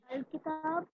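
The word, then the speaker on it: الكتاب: So what happens in Arabic when you basically add, we are supposed to add a lam to make it ma'rafa, but it's very hard to pronounce now. So in that case, we put alif there.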